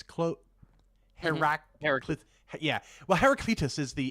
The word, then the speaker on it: Heraclitus: There's a Heraclitus quote. Heraclitus. Yeah. Well, Heraclitus is the English way to pronounce it, right?